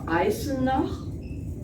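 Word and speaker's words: Eisenach: anything I was born in the city of isina it's spelled e-i-s-e-n-a-c-h and it's in the province of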